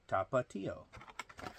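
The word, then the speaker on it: Tapatío: How do you pronounce Tapatio? Well, you pronounce it the way I pronounced it. But they even like spell it out phonetically for you. Tapatio.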